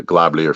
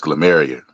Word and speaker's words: glomerular: First off, there's no such thing as the globular filtration rate. It's glomerular. He didn't even pronounce the word right.